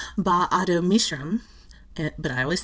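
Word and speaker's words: Ba-Ado-Mishram: I believe it's pronounced something like, but I also believe I'm going to butcher this, Ba'ado Mishram, but I always say BAM.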